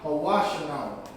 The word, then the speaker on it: Hawashanawa: Or Hawashanawa, I should say, as far as pronunciation. Hawashanawa. Hawashanawa. Because the sha is connected with the wa, so it's hawash.